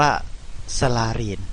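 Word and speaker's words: សាលា: คำ แรก นะ ครับ สลาน สลาน ภาษา เขมร นั้น ก็ คือ โรง เรียน นั่น เอง นะ ครับ ออก เสียง ว่า สลีน นะ ครับ อีก คำ หนึ่ง นะ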